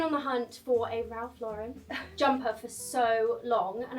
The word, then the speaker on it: Ralph Lauren: See, I've always pronounced this Ralph Lauren. I recently learned it is in fact Ralph Lauren, but I feel like it's so hard to get out of the habit of saying Ralph Lauren since I'm so used to saying that.